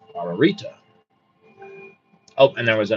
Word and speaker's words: Ararita: This word is pronounced Ararita.